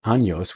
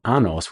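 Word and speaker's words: años: My teacher asked me to say the word anos which means years but I tried to fit the word into the pattern of English pronunciation and said anos which means well something else our ability to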